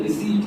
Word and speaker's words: receipt: The correct pronunciation is रिसीप्ट, RECEIPT, letter P silent.